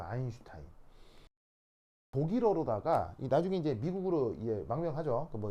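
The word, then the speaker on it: Einstein: S가 독일어에서는 스 발음이 아니고 쉬 이런 발음이 나거든요. 그래서 아인슈타인 이렇게 이제 발음을 하는 거예요.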